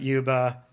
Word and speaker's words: UEBA: Uh we talked about Yuba. That's how UEBA is pronounced.